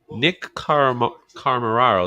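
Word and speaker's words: Nick Comoroto: Nick Carmararo, that's how you say it.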